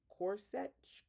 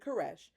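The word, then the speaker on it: Koresh: and the tape sermons of their leader David Corset. K O R E I know I'm saying that wrong. Kesh Alexa, how do you pronounce K O R E S H? Alexa, Alexa, stop. David Caresh.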